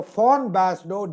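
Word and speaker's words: von Basedow: describing it a German physician called Fawnbas is pronounced as FA in German. So it's not wombbas. So fawn basau described it at a similar time as grave.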